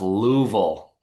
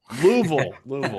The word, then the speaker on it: Louisville: It's pronounced Louisville. Louisville.